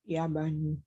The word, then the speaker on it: اليابان: Yaban.